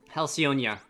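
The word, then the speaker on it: Halcyonia: of the spring breeze halcyon helsionia it's more more correct way to pronounce it making your way around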